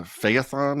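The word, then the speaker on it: Phaethon: Um, it was the moment that uh, Feyethon, is that correct? How do you pronounce?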